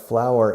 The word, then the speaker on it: flour: If I say I have flour in my hand, I can't do this. I have to do this. Because flour is harina. Se escribe flour, pero se pronuncia igual que flor.